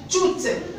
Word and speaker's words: toute: Dans ce cas-là, le mot on le prononce tout. Pourquoi tout? Parce qu'on a E à la fin.